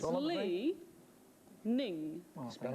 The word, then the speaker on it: Li Ning: Is it leaning or leaning? Well, it's... Yeah, that's a thing. It's Lee Ning.